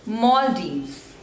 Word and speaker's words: Maldives: Malaysia Malaysia next is Maldives Maldives so there are those labels mall divs and the stress is on the first one Maldives Maldives Maldives Maldives next